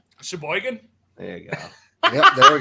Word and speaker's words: Sheboygan: I want to know about hey T say Sheboygan Sheboygan there you go there we go pronunciation a half an hour from Sheboygan I